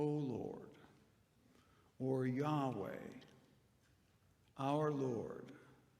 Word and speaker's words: Yahweh: l o r d reflecting it's sometimes pronounced this way in the hebrew bible yahweh yahweh the covenant name for